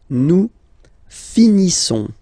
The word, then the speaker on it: nous finissons: Nous finissons. Okay, I-S-S-O-N-S. Issons. Nous finissons. Finissons. Okay, final S not pronounced.